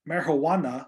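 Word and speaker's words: Marihuana: 1937 by the marijuana you have to say it like that because it has an H in it not a j marijuana tax act later solidified by the controlled substance Controlled Substances Act of 1970.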